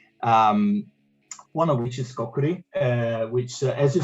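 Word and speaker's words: Kokkuri: Track two, Kokuri, I guess. Is that how you pronounce it? Kokuri?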